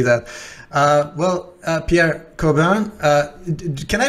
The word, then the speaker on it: Corbin: to to see that uh well uh pierre coburn uh can i pronounce it do i pronounce your name correctly corbino corbin uh yeah so in french it's cordon